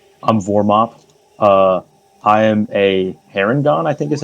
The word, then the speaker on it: Harengon: I am a Harengon, I think is how you say it.